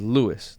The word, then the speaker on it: Luis: No, so my name is Luis, right? I pronounce it as Louis to make it more American sounding, right?